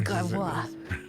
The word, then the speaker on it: Gravois: My wife yelled at for pronouncing Gravois. Gravois. It is Gravois.